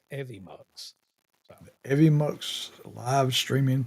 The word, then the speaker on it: Evmux: some videos earlier, learning about stuff, and it's actually called Evimux. Is how you say it. It's EVMUX. Evimux.